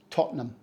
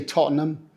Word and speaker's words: Tottenham: for its football team this one is not a three- syllable word when it's a place name it's actually pronounced Tottenham we don't say Tottenham or totam the ham is barely hanging on in there it's just Tottenham quick and simple like a football chant and it is of